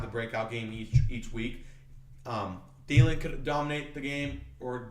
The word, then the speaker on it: Thielen: But the guy I really like out of Minnesota is Adam Thielen, or how do you say his name? Thielen.